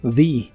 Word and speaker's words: the: En esta expresión es común pronunciar la primera palabra como the, porque le sigue la palabra other, que inicia con vocal, y la th de other es la D vibrante, así que se pronuncia the other day, the other day.